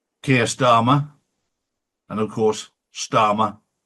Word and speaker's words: Starmer: And of course, Starmer rhymes with karma.